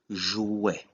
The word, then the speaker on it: jouet: The first word we're going to talk about is the word jouet or jouet, which is toy. In this case, ET is pronounced E.